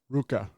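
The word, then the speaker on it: RØKKR: It's like Ruka, or so the O makes the EU sound.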